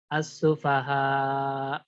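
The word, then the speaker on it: السفهاء: Dinabar, bacanya ditekan pada hamzahnya untuk menunjukkan bahwasanya si hamzah punya sifat syiddah. Jadi antum membacanya kama amanas sufaha. Sufaha. Jadi ditekan ya bacanya. Jangan as-sufaha. As-sufaha. Jadi seolah-olah tidak ada hamzah. Jadi untuk menunjukkan bahwasanya itu hamzah, antum harus tekan.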